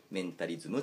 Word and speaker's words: 文章術: 人を操る禁断の文章術、文章術と書いてメンタリズムというふうに、ル